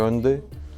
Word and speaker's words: Hyundai: /Did I pronounce it correctly?/ [T]: Yeah, Hyundai.